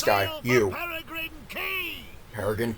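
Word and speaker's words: Quay: Peregrine Key! Peregrine Key. That's right. It's pronounced Key, because English is a stupid language.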